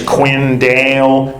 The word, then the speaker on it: Quinn Dale: my name sometimes like my name is quinn dale but she pronounces it pinching can you hear the